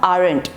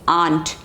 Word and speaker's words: aren't: the pronunciation is not arent i have heard people saying arent it is not arent its aunt uncle aunt aunt same pronunciation okay and second is